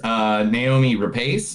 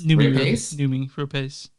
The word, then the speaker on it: Noomi Rapace: All right, so the first movie, Lamb, it features Naomi Rapace. Noomi Rapace.